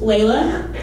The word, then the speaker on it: Lala: Now meet Lala, pronounced Layla.